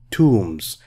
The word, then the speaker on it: tombs: hundreds of carved tombs B here is silent tombs a tomb is a